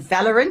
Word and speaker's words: Valorant: esports, so tournaments in Fortnite, Rocket League, and Valorant.